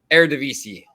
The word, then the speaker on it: Eredivisie: Eredivisie.